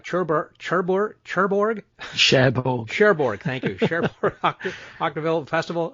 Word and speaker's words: Cherbourg: that same year had the Cherbourg, I can't pronounce this right, Cherbourg, thank you, Cherbourg Octaville Festival of Irish and British Film Best Actor for Shut Up and Shoot Me.